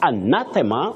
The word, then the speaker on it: anathema: Now you say anathema, anathema, or you can say anathema. In fact, anathema with a stress on the second syllable is the best pronunciation.